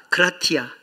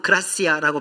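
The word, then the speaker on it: gratia: 솔라 그라티아 혹은 그라시아라고 발음하는데 오직 은혜입니다.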